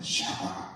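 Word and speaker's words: שבח: 원래는 찬양하다 높이다 중에 세바가 있는데 세바가 아니고 샤바하입니다 샤바 그러니까 원래 그러면은 이렇게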